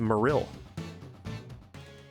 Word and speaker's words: Marill: It's actually pronounced Marill.